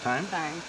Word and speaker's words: thyme: spelled fine right there but it's pronounced time okay and this is